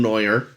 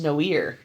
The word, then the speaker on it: noir: in black and white all film Neuer um you know the advice pronounced Noir ah but B go